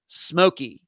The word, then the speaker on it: Simolke: Even though it's spelled Simolke, it is pronounced Smokey, like Smoky.